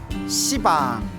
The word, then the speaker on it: 시방: 시방, 모든 공간을 가리켜 시방이라고 하는데요. 원래 한문으로 쓰면 열십자의 방위방자, 그래서 원래는 십방입니다. 십방. 근데 십방 하면 좀 너무 욕 같지 않습니까? 발음이 너무 억세가지고 이제 시방이라고 표현을 합니다.